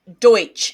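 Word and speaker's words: Deutch: so insta Wiki says Deutsch is how it's pronounced d-o-y-t-c-h all right so Zoe Deutsch she's a great actress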